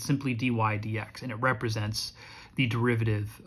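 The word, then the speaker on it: dy/dx: It's dy over dx, and we pronounce this dy dx.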